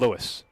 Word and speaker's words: Louis: One report said Luis. Mm-hmm. One said Louis. We're going with Louis.